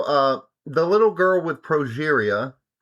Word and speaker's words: progeria: It's Progeria.